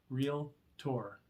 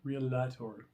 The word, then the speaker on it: Realtor: a board that's a realtor two syllables by the way real tour not real latour so we hear people